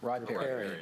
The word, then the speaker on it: riparian: Riparian. Riparian. Allegheny County Riparian Tree Buffer Planting Contract. That's how you pronounce it, gentlemen.